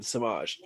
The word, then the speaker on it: Semajh: and um yes we're gonna say my name samaj um so i'm sure you all can imagine